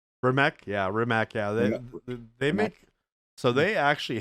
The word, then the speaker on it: Rimac: many i've never heard of rymac for mech yeah rimac they make so they actually have a couple